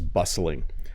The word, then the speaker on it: bustling: When I go to the mall, it is bustling. Let me say that word again. It's a little tricky to pronounce.